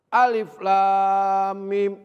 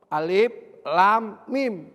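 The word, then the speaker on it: الم: dia terdiri huruf hijaiyah cara membacanya seperti kita baca huruf hijaiyah tidak berharakat fathah maupun kasrah maupun dhomah Alif Lam Mim Alif Lam Mim bacanya begitu aja jangan lama begitu coba -coba ya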